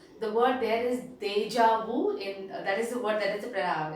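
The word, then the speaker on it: déjà vu: is deja vu okay the pronunciation is they will say this is deja vu which means we have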